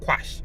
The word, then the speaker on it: quash: It is not squash, it is quash. Quash. There's no S in the beginning.